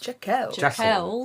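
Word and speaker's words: Jackals: So, um, Jackal Jacels's Jackels. Oh, is that how you say it? Yes, we think that's another that's another name I got stuck on loop on.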